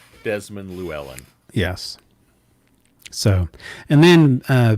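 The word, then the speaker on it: Llewelyn: he was alive so yeah terrence said it's pronounced lou ellen and i okay i think he's right desmond lewellen yes so and then uh ben uh with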